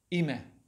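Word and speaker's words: имя: Ime. Ime, okay.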